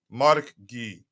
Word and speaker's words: Maresca: killing me every time but I think it's MK g mark G that's how he pronounced it and if I here's